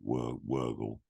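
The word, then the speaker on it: Wörgl: I probably got the pronunciation completely wrong, but it's spelt Virgil. I think they say it Wurgle.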